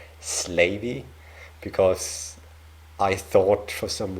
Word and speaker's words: Slavey: like the cre the slavey the chipa or the yeah yeah slavy people in my last Canada video I I got a comment from one of you saying that it is actually pronounced slavy because I thought for